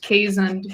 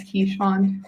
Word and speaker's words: Keeshond: He's a Keeshond. Well, it's pronounced Kazund, but everyone says Keeshond.